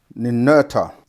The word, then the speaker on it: Ninurta: And his other Ninurta, yeah, Nin, we say Urta, Ninurta.